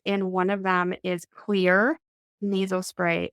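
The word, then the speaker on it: Xlear: one of them is clear nasal spray it's pronounced clear but it's spelled with an X instead of a c because one of the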